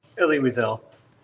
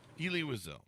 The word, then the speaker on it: Elie Wiesel: Do I have that right on the pronunciation? Elie Wiesel. Elie Wiesel.